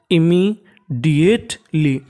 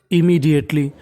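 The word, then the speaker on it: immediately: LY को क्या पढ़ते थे हम लोग, ली, M 2 बार, इसका उच्चारण कितनी बार करना है, केवल एक बार, और बीच में क्या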